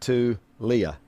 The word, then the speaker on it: Tulia: Tua's brother's name is pronounced Tulia. Tulia. Tulia. Tulia. Tulia Tagovailoa. Yep.